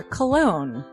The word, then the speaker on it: Colon: It is a self-published book by Christopher Cologne. Chris Cologne smells good to me. But Look at her. That broke that fucking cold little exterior. He's like, hee. but it is spelled Colon.